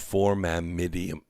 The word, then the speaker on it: formamidinium: perovskite around molecules of formamidinium. That's the correct way to say it. I just can't say it fast. Because form is one chemical formation, amide is another one, and inium is another one.